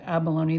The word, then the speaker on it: abalone: And I, as far as pronunciation of the word abalone, this is how I grew up. It's always been called abalone.